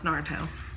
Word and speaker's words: Naruto: Naruto. Naruto. She likes Naruto. No, it's Naruto.